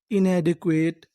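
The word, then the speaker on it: inadequate: नियम याद रखना है अगर आपको इंग्लिश की किसी भी मीनिंग में आखिरी में इ लिखा मिले तो हम लोग इ का उच्चारण नहीं करते हम लोग इ से पहले तक का उच्चारण करते हैं तो हमारी पूरी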